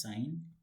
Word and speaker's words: sin: There's sine, there's cosine, then there's tangent. That's what you have. The shortcut of sine is, it's written like sin, but we pronounce it as sine.